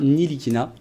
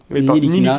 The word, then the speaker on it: Ntilikina: Nilikina Nilikina, on prononce pas le T.